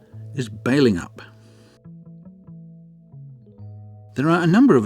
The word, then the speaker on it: Balingup: for years I've referred to this town as Belling up but apparently the correct pronunciation is bailing up there are a number of attractions and events